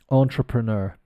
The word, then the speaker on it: entrepreneur: number six here entrepreneur so it's the French pronunciation but in an English accent so badly let's say entrepreneur this is uh somebody